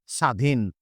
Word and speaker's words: স্বাধীন: উচ্চারণে আমরা দেখতে পাচ্ছি প্রথমেই ব ফলাটা আছে তার মানে এই ব ফলাটার কোন প্রয়োজন নেই এই ব ফলাটা উচ্চারণ হবে না তাহলে আমরা উচ্চারণটা করবো কি স্বাধীন আমরা উচ্চারণটা করবো হচ্ছে